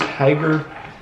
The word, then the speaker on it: Hygger: name wrong it's h-y-g-g-e-r i can only assume that it's pronounced hyper so that's what i'm